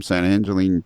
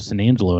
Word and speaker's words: San Angelo: Or if you're a native San Angelo and be a San Angelo. San Angelo. You slur it all together. San Angelo?